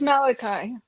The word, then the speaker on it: Malachi: the prophet that's close enough yeah yeah it's Malachi Malachi okay yeah he says he love God